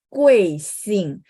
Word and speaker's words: 贵姓: Kue sing. Terus teman-teman masih ingat ketika saya ajarin teman-teman UI bacanya apa? Kalau ketemu Hanyu Pinyin vokal UI bacanya U, E, I gitu ya.